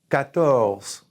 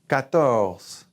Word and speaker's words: quatorze: 14, there's a Q, there's a U. Quatorze. Quatorze.